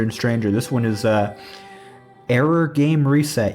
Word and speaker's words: 404 Game Reset: This one is Error Game Reset. You might think it's pronounced 404 Game Reset, but it's 404 like the error.